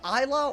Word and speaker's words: Isla: The S is silent.